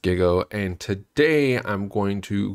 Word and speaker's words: Gigo: G I go put it together and it's pronounced Giggle and today I'm going to Showcase to you